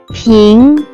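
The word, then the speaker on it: 瓶: Let's move to second character which can be pronounced as ping. Pronounce with second tone.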